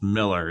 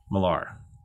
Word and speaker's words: Millar: and they were like it's pronounced miller it's not malar i don't know mark